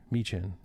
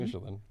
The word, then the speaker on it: Michin: Michin. I'm going to say her name wrong. Michin. Michelin. Told you 4 times, Brian. He's gonna say it wrong forever.